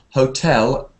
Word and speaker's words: hotel: hotel hotel hotel yes so in English hotel is tell at the end hotel oel hotel all right